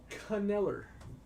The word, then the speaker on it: Kneller: Bowman's Best U for Kneller. The K is silent.